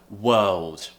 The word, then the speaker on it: world: you're familiar with already so firstly the earth sound to pronounce this the tongue should be kind of floating in the middle of the mouth and the mouth is very relaxed but that's not where